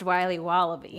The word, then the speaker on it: Wiley Wallaby: It's pronounced Wiley Wallaby.